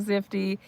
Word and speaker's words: Zifty: The best thing about Zifty, right, is it rhymes with nifty.